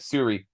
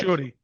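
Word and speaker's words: Shuri: So yeah, when okay, Letitia Wright character Suri, I know I'm mispronouncing that, but Shorty.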